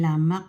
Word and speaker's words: lemak: So ang pronounce po nito ay lamak sa Brunei or Malaysia o sa Singapore kasi